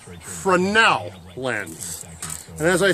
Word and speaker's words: Fresnel: Ladies and gentlemen, this is not a Fresnel lens. That's a mispronunciation. It's pronounced Fresnel lens.